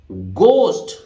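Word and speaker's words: ghost: इसी तरह गोस्ट, ठीक है, अब यहां एच साइलेंट है, जी का हार्ड प्रोनाउंसिएशन हो रहा है, भूत को बोलते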